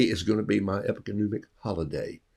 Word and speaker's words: epagomenic: I need next Tuesday off because it's a epigomenic day. Epagomenic, epigomenic day. And that M-E-N is pronounced M-U-H-N-I-C-K, epigomenic day.